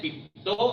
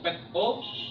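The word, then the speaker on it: πίπτω: Nah, pelafalannya pipto atau peto sebagai alternatif dalam tense tertentu, yang artinya mungkin mirip seperti jatuh atau gagal atau menyembah sampai kepala menyentuh tanah seperti proskuneo yang tadi.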